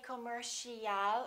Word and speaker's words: commercial: So it's not com or calm, it's come, come. Commercial. Don't say commercial or commercial. It's O. Commercial.